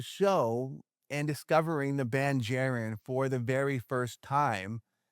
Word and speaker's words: JAREN: And Jaron is spelled like Karen with a J.